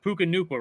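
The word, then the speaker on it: Puka Nacua: a small school I believe didn't he PUK puka Nuka right Nuka yeah Nuka NAA um BYU that's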